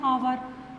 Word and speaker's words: hour: Okay, then आवर, तो आवर इट्स एच is silent, so what is pronounced, how to pronounce this hour.